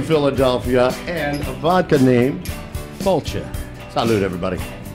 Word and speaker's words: Failte: Tell everybody how we pronounce it one more time, Dave. Failte.